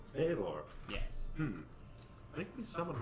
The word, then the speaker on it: Balor: Baylor. Balor. Baylor.